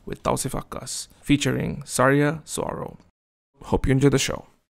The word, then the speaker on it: Saguaro: So my last name is pronounced Saguaro.